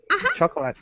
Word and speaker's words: chocolate: Chocolate. Chocolate. Yeah, chocolate. Chocolate. And I cut off O. Yeah, the second O is just totally thrown away. We don't even pronounce it at all.